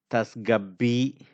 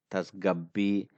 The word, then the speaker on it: tasgabbi: So tasgabbi, tasgabbi. So sa here is a silent.